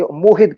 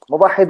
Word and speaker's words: مواحد: موحد کہہ رہے ہیں، موحد ورڈ ہی کوئی نہیں عربی اردو کے اندر، مواحد ہوتا ہے. مواحد.